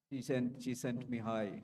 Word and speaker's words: Csikszentmihalyi: Csikszentmihalyi, she sent me high, right?